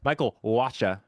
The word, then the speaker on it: Michael Wacha: Michael Wacha.